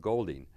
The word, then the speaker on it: Goulding: the whole area was by the name of Golding, or Goulding as they pronounce it, and he kind of traveled and